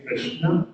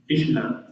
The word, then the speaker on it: Krishna: So if you've learned some sort of pronunciation it is pronounced Krishna Krishna and let's say as N has a dot below because it's not an Kishna Krishna then that comes what comes with the